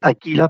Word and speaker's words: Akela: sencilla razón de que aquella se pronuncia aquila Pero bueno aquí la